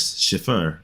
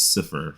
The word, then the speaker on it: Cifer: I F E, but I don't pronounce my last name as Shifur. I just pronounce it as Cifur from Lucifer pretty much for that.